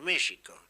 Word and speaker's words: México: lo curioso es que en México escriben con x pronuncian con j tendría que decir México pero claro ellos pensaran